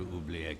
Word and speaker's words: Oublié: The how do you even pronounce this? Welcome to Oubliette Cathedral, Brother Luther.